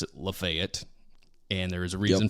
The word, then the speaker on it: Lafayette: are all aware that it's Lafayette but we pronounce it lefet and there is a reason for that there